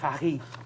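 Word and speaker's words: Fage: I think it's pronounced Fagi.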